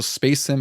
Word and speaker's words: Spasim: And then in that same year, there was also Space Sim. It's spelled SPA Sim, which is pretty interesting.